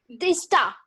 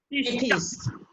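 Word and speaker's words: Tethys: Tista. टेथिस. नो, टेथिस. T spelling बोलो.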